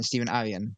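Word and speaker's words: Stephen Aryan: pages um did I just did I just pronounce his name right Stephen Aran stepen Aran yep yeah okay cool yes you got um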